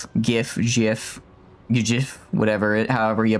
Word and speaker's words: gif: I hate to say it's not pronounced gif like jiffy peanut butter. It's pronounced gif like gift.